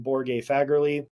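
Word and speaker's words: Borge Fagerli: Then uh let's go to Myior Reps from Borg Faggerly. Super super smart dude. Yes, that is how you pronounce his name.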